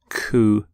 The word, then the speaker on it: coup: the pronunciation of coup you don't say the P don't sound the P at the end coup here's the your next